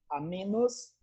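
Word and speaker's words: amoenus: Amenos, escreve-se amoenos, mas se pronuncia menos.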